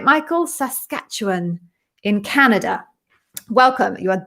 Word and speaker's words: Saskatchewan: hello from uh right i'm gonna try and pronounce this properly so this is saskatchewan i got that right michael saskatchewan in canada welcome you are definitely my first